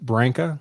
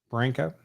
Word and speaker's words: Branca: We mostly pronounce it Branca, like bank, Branca, but it was Brancaccio originally before we got to Ellis Island, and they trimmed it down.